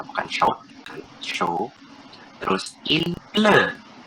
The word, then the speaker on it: pleut: Terus il pleut. Pleut, T-nya jangan dibaca.